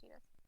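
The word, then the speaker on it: Tidus: It is pronounced Titus. It is Titus.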